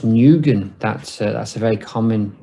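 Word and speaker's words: Nguyen: khan hong kong noob i believe that's pronounced nugent that's that's a very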